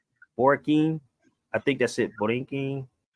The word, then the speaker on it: Borinquen: And it pronounced Borinquen? Borinquen, yes.